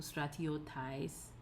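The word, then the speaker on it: στρατιώταις: Then the dative goes back to normal, acute on the penult, so stratiotais, and the accusative acute on the penult, stratiotas.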